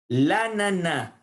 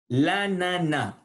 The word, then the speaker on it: l'ananas: L'ananas. L'ananas. On ne prononce pas le S final.